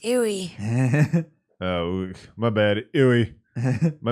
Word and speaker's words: Aoi: It's pronounced Ewy.